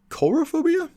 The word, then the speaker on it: coulrophobia: repeat that one more time I believe it's pronounced coulrophobia it's a sounds like did you check before